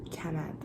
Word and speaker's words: Kamand: So my name is Kamand, and it's spelled Kamand, and yeah, so you pronounce it like Kamand.